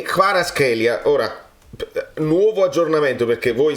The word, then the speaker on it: Kvaratskhelia: So KH is Georgian. Khvicha. So the right pronunciation will be Khvicha Kvaratskhelia.